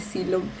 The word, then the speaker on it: Silom: And I was going to ask, we're just started watching a series called Love of Silom, which he pronounced See-lom, so Silom is a place?